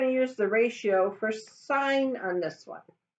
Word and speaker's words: sine: I'm going to just sign which is spelled SI and E but we abbreviate with SI n so it's not sin at sign sign 18 degrees